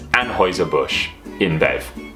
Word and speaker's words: Anheuser-Busch InBev: I'm going with my German A level and going to pronounce it as Anheuser-Busch InBev.